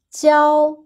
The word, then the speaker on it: 教: Remember when we learned classroom, the pronunciation was 教, the first tone, but here when it's a verb, it's the first tone, 教, 教.